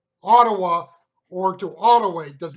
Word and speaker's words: Ottawa: Now, in particular, think of the letters, because if you spell it O-T-T-A-W-A, it can be pronounced Ottawa or Ottawa. And it's important because they are not necessarily the same place. For example, one is the county seat of Franklin County in Kansas, and I think that is pronounced more like Ottawa, whereas the capital city of Canada is Ottawa. Spelt the same, but not the same.